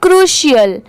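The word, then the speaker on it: crucial: पाएंगे ठीक है ये है अ ये है क्रुशल इसे क्या पढ़ेंगे क्रुशल यहां पर सी आर यू इसे क्या प्रोनाउंस किया गया है क्रू सी आर यू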